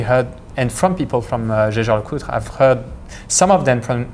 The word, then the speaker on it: Jaeger-LeCoultre: Okay, so jaeger-lecoultre. Jaeger-lecoultre. The other thing you often hear, of course, is Jaeger. Yeah, which it is not. It's how you would pronounce it in German, basically.